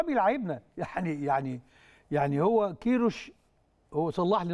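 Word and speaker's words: Queiroz: ايوه ما هو والله بيلعبنا، يعني يعني يعني هو كيروش، هو صلح لي النطق ظهر اسمه كيروش بقى.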